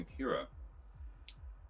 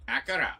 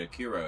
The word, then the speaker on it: Akira: I just finished reading Akira Akira recently. Or as that one guy pronounced it, Akura.